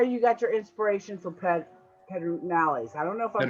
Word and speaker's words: Pedernales: It's spelled Pedernales, Pedernales, but in Texas you'd say that Pedernales.